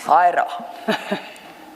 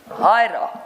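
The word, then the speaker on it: Huayra: Hyra. Sorry, ma'am? Hyra. Oh, okay. I dare not pronounce it back.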